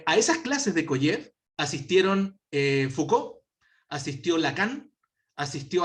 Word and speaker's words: Kojève: A mitad del siglo XX, en Francia, impartió clases un filósofo, él es francés pero de ascendencia rusa, que se llamaba Alexander Kojev, Kojève se escribe, con K.